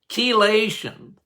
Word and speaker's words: chelation: that ke okay again pronounced with a K but it's ch kation therapy became famous after